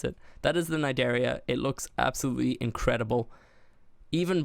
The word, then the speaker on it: Cnidaria: Cnidaria, yeah, that's how you pronounce it. That is the Cnidaria.